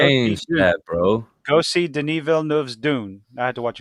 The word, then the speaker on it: Denis Villeneuve: Go see Denis Villeneuve's Dune. I had to watch a video to figure out how to pronounce that fucker's name.